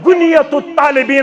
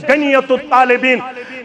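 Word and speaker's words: غنية الطالبين: रहमतुल्लाह तम क्या वन गुनियतु तालिबीन अंदर कशिर वन आम प्रोनाउंसिएशन गनियतु तालिबीन गुनियतु तालिबीन मज क्या वन शेख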